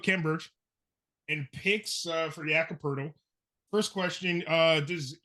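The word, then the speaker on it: Jakob Poeltl: you think you're gonna be looking at a word that phonetically reads like turtle, right? Yeah. Turtle, but you're looking at a word that's POELTL. I'm sorry, no R.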